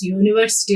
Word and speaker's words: university: So when you are pronouncing this unique, we are getting the consonant sounds, and even when you are pronouncing this university also, the first sound which we get is a consonant sound.